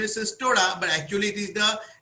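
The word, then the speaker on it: Cestoda: So Castoda was the original pronunciation, but however nowadays people say Cystoda.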